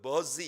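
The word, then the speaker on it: Buzi: 수도 있습니다만은 이 말은 그 영어 성경을 보면은 그 버지 이렇게 되어 있어요. B-U-Z-I입니다. Z. 그래서 여러분들이 우리 한국 성경에서 부시라고 발음하는 것과는 좀 다른 그런 버지예요.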